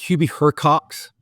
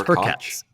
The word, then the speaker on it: Hurkacz: It's Hurkacz. Hurkacz? Yeah. Yeah, get out. I didn't know that. Like right. Hurkacz. Anyways. Hurkacz. Djokovic. He was pronouncing the C, S, and Z all together.